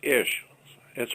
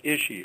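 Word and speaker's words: אִישׁ: Man in Hebrew is Ish. It's pronounced Ishi, I-S-H. Ishi or Ish is man.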